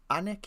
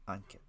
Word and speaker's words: Ankit: office hours i see anik is here hello anik uh uh on kit on kit sorry i mispronounced your name uh or at least unkit hopefully that's closer to the pronunciation unkit i'll try to remember